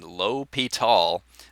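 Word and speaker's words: L'Hôpital: here's l'hopital's rule and there you see the pronunciation low p tall over the o there's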